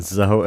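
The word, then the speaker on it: Zoey: This topic was suggested by Zoe Jones, who maybe is a long-distance relative of... Wow, Zoe Bowie. Zoe Jones. So she Zoe got the Jones. surname and her first name rhymes with Bowie.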